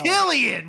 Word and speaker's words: Cillian: Killian!